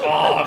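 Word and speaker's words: Aang: It's pronounced Og.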